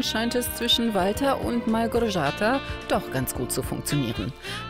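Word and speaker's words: Małgorzata: Wie spricht man deinen Namen genau aus? Malgorzata, oder wie? Malgorzata.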